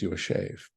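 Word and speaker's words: ישב: know it says Yash it's written as Yash but we pronounce it as your shave so here's the interpretation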